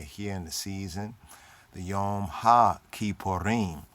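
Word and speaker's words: Yom HaKippurim: in the season the yom ha ki porin many say yom kippur and there we seek to correct right that's not yom kippur only in modern judaism and nowadays people just say it like in a short way yom kippur but in her torah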